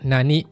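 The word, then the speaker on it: 何: Onyominya kosong, kunyominya nani atau nan. Contohnya nanji, jam berapa? Nanjikang, berapa jam? Nambong, berapa batang? Nampung, berapa menit? Dan nanigo, bahasa apa? Hati-hati, cara bacanya ada dua ya. Bisa nani, bisa nan.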